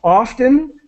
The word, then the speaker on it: often: going to say often they're not going to pronounce the T so often often often often often